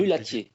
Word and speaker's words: Mulatier: I always say Mulatier. Is that John? Mulatier.